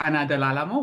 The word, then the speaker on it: Ana Del Alamo: So, my name is Anna Dealo, which I know is a hard name to pronounce.